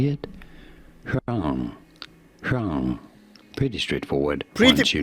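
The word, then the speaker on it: 黄: It's also the word for yellow, and it's pronounced Huang. Second tone, Huang.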